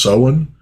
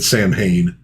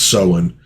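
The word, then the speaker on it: Samhain: You know, the first time I ever saw it, yeah, I said Sam Hayne, but um I think it's Sen is how you actually pronounce it from the real Ghostbusters cartoon.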